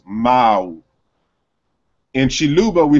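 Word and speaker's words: ⲙⲁⲁⲩ: And so in Coptic, it is pronounced Ma'u. Remember that the W is a semi-consonant, it's not a vowel. So you wouldn't consider, you wouldn't really put U there, it's really a W. So it's Ma'u.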